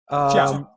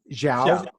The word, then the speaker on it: Xiao: Xiao. Zhao. And it's like an S.